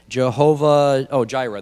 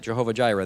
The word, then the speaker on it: Jehovah Jireh: of that place i don't know how to pronounce that jehovah oh jira that's it jehovah jireh there you go as it is said to